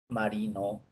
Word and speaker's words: marino: Por ejemplo, marino. La sílaba tónica de marino es ri.